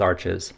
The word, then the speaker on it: Arches: One of the most widely recommended watercolor papers is made by Arches, which may be pronounced arch, but I like the sound of Arches better.